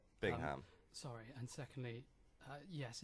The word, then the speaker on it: Bingham: um Stuart Bingham well firstly it's pronounced Bingham Bingham sorry and secondly uh